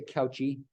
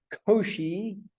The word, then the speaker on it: Cauchy: Cauchy, you spell it like that. Don't say Cauchy. Cauchy. We don't completely anglicize these names.